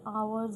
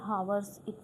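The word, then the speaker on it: hours: ठीक है, सबसे पहली बात तो ये आवर्स होता है भाई, हावर्स इसको मत बोलना, ठीक है, इसकी करेक्ट प्रोनाउंसिएशन होगी आवर्स।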